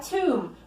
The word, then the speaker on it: tomb: buried in tombs okay be careful that you don't pronounce the letter B okay the letter B is silent it's not tomb its